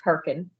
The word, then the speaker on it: Hurricane: It's spelled like hurricane, but it's pronounced Herkin.